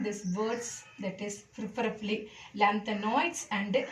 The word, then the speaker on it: lanthanoids: Okay, the 4F series, it is called as lanthanoids. This one, actinoids. So pronounce properly, lanthanoids, OIDS, actinoids.